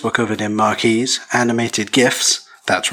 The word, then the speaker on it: GIFs: Pages were covered in marquees, animated GIFs, that's right, I pronounce it with a hard G, you may pronounce it with a soft G, I don't know, and it was incredibly important to have a guest book.